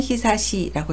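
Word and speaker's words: 久しい: 시가 나올 때는 히사시라고 읽어서 오래되다, 오랜만이다 라는 형용사가 되고요.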